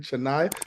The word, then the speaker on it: Chenai: so greetings greetings greetings our beloved beloved colleague chenai did I pronounce that right and what does your name